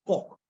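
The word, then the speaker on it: Coke: Cook replied, and actually it's Cook, pronounced as Cook, although it's written as Cook.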